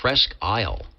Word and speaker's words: Presque Isle: That's There's a great SDR up there in Presque Isle. P R E S Q U E. Presque Isle. I might be pronouncing it wrong up in there in uh Wisconsin.